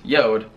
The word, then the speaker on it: JORD: but few weeks ago this company pronounced yodh reached out to me